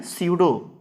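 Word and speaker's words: pseudo: स्यूडो। देखिए P silent होता है, स्यूडो।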